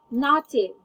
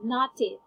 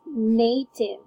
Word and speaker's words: native: Native. You said native. Alright. Here is the correct pronunciation. I actually wrote it down. There. Could you read it for me again? Alright, so it's native.